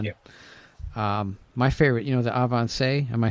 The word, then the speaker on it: Avancé: My favorite, the Avancé.